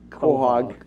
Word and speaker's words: quahog: I'm glad you're able to share with people the right way to pronounce the Quahog.